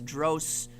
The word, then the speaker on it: Drosophila: it is Drosophila. No, it can't be, because in my head it's Drosophila. But she says the pronunciation is Drosophila.